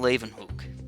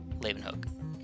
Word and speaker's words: Leeuwenhoek: know is Antoine von Leeuwenhoek. Leeuwenhoek. Hoek. It's spelled like H-O-E-K, and it's Hook. Leeuwenhoek, I believe.